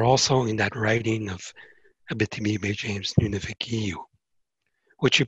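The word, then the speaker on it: Abitibi—Baie-James—Nunavik—Eeyou: have globally are also in that writing of Abitibi-Bay James Nunavik-Iyu, which you pronounced right, by the way.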